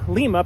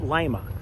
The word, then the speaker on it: Lima: Lima is actually named after Lima, Peru, but they pronounce it Lima.